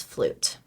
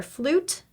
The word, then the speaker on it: flute: a tune on his flute this is another silent e card that focuses on the silent E ending for flute while tune made thrown